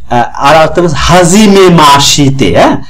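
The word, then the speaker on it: はじめまして: মাসতে হাজিমে মাসিতে উচ্চারণ হাজিমে মাসিতে এভাবে spelling করে বললে এটা হয় হাজিমে মাসিতে বা এটা আমরা উচ্চারণ কি বলে হাজিমে মাসতে হাজিমে মাসতে সে উচ্চারণ আর হবে না বলার সময় একটু খেয়াল রাখবো উচ্চারণে হাজিমে মাসতে মানে প্রথম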